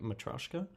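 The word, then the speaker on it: matryoshka: new special grenades the Gersh device and the metroshika the matrishka matrushka in Russian the pronunciation is the special dolls that go inside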